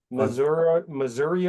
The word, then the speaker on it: Missouri: I mean, Swamp oak, Missouri oak. Yeah. So you said it right. Missouri is how it would be said in Missouri.